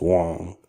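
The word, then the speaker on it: Wang: it ever since Mike Wong has started tweeting about it, and his name is pronounced Wong.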